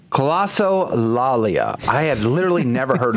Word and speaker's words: Glossolalia: But yeah, you guys, have you ever heard of glossolalia?